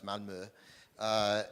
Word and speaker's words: Malmö: These ghettos, and I just came back last Friday I was in Sweden, in Malmö, which I used to pronounce it Malmö, but no, it's Malmö.